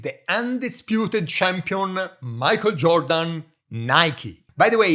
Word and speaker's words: Nike: undisputed champion Michael Jordan, Nike. By the way, in Italy we say Nike, and someone told me that in ancient Greek it's pronounced Nike, victory.